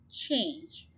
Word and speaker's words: change: अब ये देखिए वाउल्स तो दो हैं लेकिन वाउल साउंड एक ही है, the last one is silent, change. So it's just one syllable, chart.